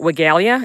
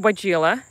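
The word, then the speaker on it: Weigela: say this wrong wigila i used to call it regalia and then i realized that i had been saying it wrong all these years so it's um it's variegated by gila and it's absolutely magnificent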